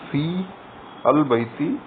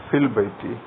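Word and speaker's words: في البيتِ: some other word, then the hamza of al will not be pronounced, it will be elided during pronunciation.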